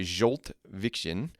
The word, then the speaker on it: Zsolt Viczian: It's by Jolt Vixen.